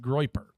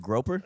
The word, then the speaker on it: Grop: You got to have a cool name like Groper. Was it you said Groper? I do. That's what I thought it would be the pronunciation, but evidently it's even more badass. It's Grop.